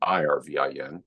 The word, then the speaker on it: Irvin: He spelled it differently. It's Ervin, and I'm Irvin, but they're pronounced exactly the same.